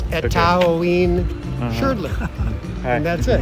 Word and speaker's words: Etaoin Shrdlu: So yeah, you can, if you speak Spanish, you can pronounce all the vowels. Etaoin Shrdlu.